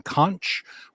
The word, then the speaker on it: Conch: the character I'm playing conch rhymes with launch or almost rhymes with